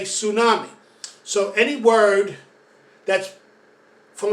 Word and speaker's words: tsunami: do in spanish or when you say tsunami as in japanese it starts with ts we don't say t su we just say tsunami so any word that's